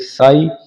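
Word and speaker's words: sigh: इसी तरह जी एच, जी एच इकट्ठे होने पर जी के बाद आपको कहीं भी किसी वर्ड में एच लगा मिले तो ये दोनों साइलेंट हो जाते हैं, इनकी कोई आवाज नहीं आती, जैसे हाई, एच आई जी एच, हाई।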